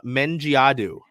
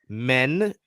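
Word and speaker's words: Mendjiadeu: We got the pronunciation guide. Dulcie Fancom Mengiadu. Say it with me. Dulcie Fancom, like Fan come COME, Mengiadu. That last name really messed me up when the draft happened. Mengiadu.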